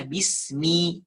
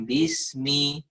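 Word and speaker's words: بسم: Jadi kalau baca Quran, yang betul adalah bismi, bukan bismi.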